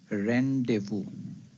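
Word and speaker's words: rendezvous: how do we pronounce it the word is pronounced as randevu so this is how we pronounce the word rendevu the second doubt which comes to our mind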